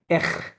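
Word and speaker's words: acht: এটা exactly correct না, বাট এরকম মানে এখ, এরকম উচ্চারণ হবে, এক, হ্যাঁ, এখ, ওকে, হ্যাঁ, এখ, বাট ইটস not exactly correct, okay, but almost ওকে, কাছাকাছি,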